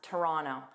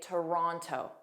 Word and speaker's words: Toronto: Now, I pronounce it as Toronto. I drop that middle T and just pronounce it as Rono. But it is common for native speakers to say Toronto.